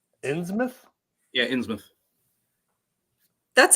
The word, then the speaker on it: Innsmouth: Shadow Over Innsmouth. How do you guys... hold on a second. How do you guys say it? Innsmouth. Innsmouth?